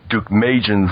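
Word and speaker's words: Deukmejian: it well first let me correct your own pronunciation of George Duke magan's name he was the governor of California one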